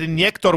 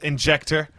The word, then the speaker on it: Injektor: injector injector injector i i'm like missing these pronunciations because you know i want to do it in slovenian but i know that's not right because we're doing it in english so might as well said injector funnily enough i you